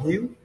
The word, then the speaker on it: Hieu: The word Hieu, it means respectful in Vietnamese language. And yeah, Hieu is pronounced almost like huge, actually.